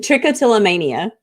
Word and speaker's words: trichotillomania: I pronounced it absolutely horrible so would you pronounce it for us again it's tricotilomania troia and your book is where's my hair a tricotilomania story for children yes so I want to start explain tricotilomania and for anybody out there who doesn't know